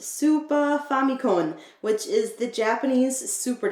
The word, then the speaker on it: Super Famicom: cartridges are for the super famicon or more properly pronounced super famicom which is the japanese